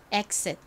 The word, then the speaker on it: exit: 나서 xit 이렇게 발음됩니다 가장 끝에 있는 티는 약하게 발음되어 exit 이렇게 받침 럼 들린다고